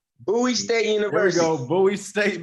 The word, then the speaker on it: Bowie State University: Pronounce it for me. I always say it wrong. Bowie State University.